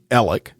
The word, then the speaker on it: Alex: during the time that Alec was actually at those kennels or elic if you pronounce it that way and you can hear